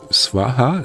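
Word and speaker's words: स्वाहा: internalizing this so uh swaha you know spelled like swan and haha you know swan that's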